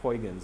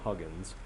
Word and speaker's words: Huygens: lot of people put for huygens they call them huggins which is okay you know it's kind of spelled that way you forget the why in there but you know i